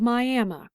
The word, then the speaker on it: Miami: and there's one called Miami. I know it looks like it's spelled Miami, but that's just not how we say it around here.